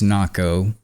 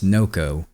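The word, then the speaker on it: Nocco: a man named Chris Nako became the sheriff of Pasco County Florida is that how you say his name move that up so back in 2011 a man named Chris NOCO became the sheriff of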